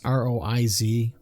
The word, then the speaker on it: Roiz: Hal was voiced by an actor by the name of Sasha, and I'm gonna probably pronounce the last name wrong, but I'm gonna say Roiz. It's Roiz.